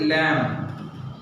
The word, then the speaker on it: lamb: Like this, lamb. L-A-M-B, lamb. On 3rd line, second word, lamb. B is silent.